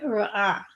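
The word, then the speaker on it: רָעָה: It would be very back of the throat, almost like a g, way back there, like Ra'ah. You kind of drown it in the back of your throat.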